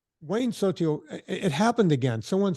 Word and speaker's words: Sotile: Sotil is spelled Sotile.